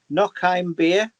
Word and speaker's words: noch ein Bier: Now let me pronounce this right. Is it noch ein Bier?